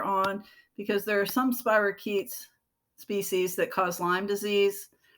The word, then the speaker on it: spirochete: of bacterium called spirochete the ch is a hard sound so spirochete spirochetes when you look at them